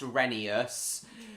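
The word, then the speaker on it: Rheneas: time no it's actually I'm aware that it should be pronounced renius but honestly I prefer the pronunciation of reneus it's a lot simpler the pronunciation reneus is a lot simpler on the mouth in my opinion professional lawyer Sal Goodman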